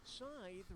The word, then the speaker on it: scythe: it would be used Scythe rhymes with tithe but I still like